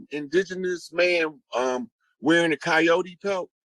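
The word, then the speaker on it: Kiot: i o t uh coyote that's an indigenous name that's actually the tribe whose totem is the coyote and it's it's um it's spelt that way and it sounds like coyote or coyote but it's a tribe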